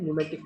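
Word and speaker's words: pneumatic: हवा भरी रहती है, उन टायरों को बोलते हैं न्यूमेटिक टायर। पी इसमें साइलेंट होता है, न्यूमेटिक बोलते हैं इसे।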